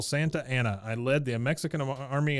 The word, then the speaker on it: Santa Anna: is dressed like General santiani santiani yeah or he's like the only one Santa as he is the only one that pronounces it correctly he says I am General Santa Anna I led the Mexican